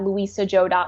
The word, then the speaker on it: Lusia Zhou: Joe calm slash challenge I do want to caveat my name this not it's not spell the way it sounds it's spelled Lu is a Z as in zebra Hou comm slash challenge awesome thank